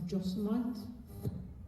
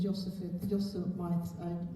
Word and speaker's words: Yosemite: It's called, I think it's pronounced Yosemite. Is that the American way of saying it?